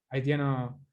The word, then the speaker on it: Haitian: Haitiano, Haitian, se pronuncia Haitian.